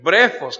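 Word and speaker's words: βρέφος: refiere a ellos como brefos, PH intermedia, que se pronuncia F, brefos, que significa succión, que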